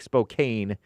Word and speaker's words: Spokane: It looks like Spokane, but it's pronounced Spokane, I'm pretty sure.